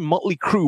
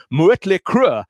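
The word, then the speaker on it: Mötley Crüe: think it looks cool first time motley crew went to germany on a tour the audience were all shouting mueller crew murillo crew because that's how you pronounce these letters with allah and they had no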